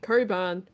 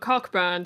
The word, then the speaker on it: Cockburn: There is a city called Coburn where it's just it's spelled cockburn, so you never know. But it's not said that way.